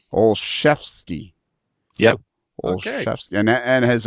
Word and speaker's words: Olszewski: Olszewski.